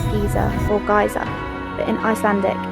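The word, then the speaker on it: Geysir: In English, most people say Geyser or Geyser, but in Icelandic, it's pronounced more like Geyser.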